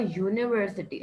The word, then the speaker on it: university: are the wobble sound but if you have a university a university it begins with the u but it does not have a a sound it's beginning with the you yeah not uh getting